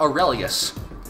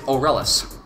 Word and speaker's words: Aurelus: Garganoid, Aurelus Garganoid, guys, listen to my words. It's Aurelus. There is no extra I. It's not Aurelius. It is Aurelus.